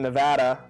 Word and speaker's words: Nevada: experience less a little bit desert aliens in Nevada also it's called Nevada if you pronounce it in Nevada you're wrong Nevada Nevada